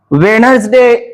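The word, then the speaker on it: Wednesday: ठिकाणी D silent असतो आता डी सायलेंट कसा असतो तर या ठिकाणी जी काही स्पेलिंग आहे ती एका डेची आहे मग ह्या डेचा आपण प्रोनन्सशन कसं करत असतो वेनसडे वेनसडे वेनसडे वेनसडे आपण म्हणत असतो वेनसडे चा उच्चार आपण करत नाही डेचा उच्चार करून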